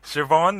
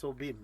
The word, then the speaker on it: Siobhan: Siobhan is actually pronounced as Siobhan. Siobhan, yeah. In Gaelic. Okay. I thought it's pronounced Sobin.